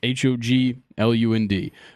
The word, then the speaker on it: Hoglund: 2-time first-round pick, Gunnar Hoagland. Hoagland. You got it. Hoagland. I don't know how to say it. I just know it's Hoglund.